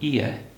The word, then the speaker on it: ie: It's called an ie. It's spelled I-E.